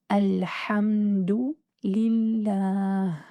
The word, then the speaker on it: الحمد لله: do offer courses that focus on Arabic letter pronunciation as well as Arabic for beginners. So let's repeat slowly. Alḥamdu, lillāh.